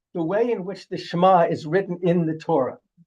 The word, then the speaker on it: Shema: changes the word entirely now it's no longer shma here oh Israel the Lord of God the Lord is one but Shema it could be pronounced Shema if an an an olive is there which means perhaps changes